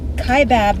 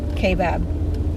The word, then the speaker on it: Kaibab: is good probably have the pronunciation wrong but right now we're in kaibab national forest kaibab kai bob habib i don't know i'll go k-bab yeah sounds good to me this sounds legit kaibab